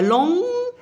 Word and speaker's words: long: il y a un man il y a long en prononce pas le G long c'est le féminin